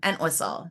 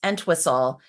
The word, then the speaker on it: Entwistle: so a lot of people mispronounce Entwistle because there's no H in it, and they miss out on the H and in the whistle, and their head explodes.